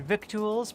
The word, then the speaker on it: victuals: Never heard the word victuals before, eh, Speedy? It's lingo out here on the trail. Doesn't look like it, but it rhymes with little.